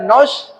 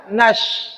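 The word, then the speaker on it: ناس: di atas atas bacanya Na bukan no kenapa ketika dia bertasdid dengan syin menjadi na na na salah bacanya Bagaimana na na na na na Nas bukan nos Kenapa na itu adalah huruf tipis bukan huruf tebal Coba kita lihat Bu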